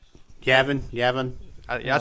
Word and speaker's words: Yavin: You're thinking of Yavon. Yavon 4 is a moon. Gotcha. Yep. Okay, yeah, that's it. Yeah. Did you say Yabon? Yavon. Is that Yavon how 4? it's pronounced? Yavin.